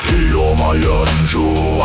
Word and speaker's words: Ryoma Yanzhu: Ryoma e anjo, assim deve ser ouvido, porque Ryoma sozinho faz o campo sentir a investida.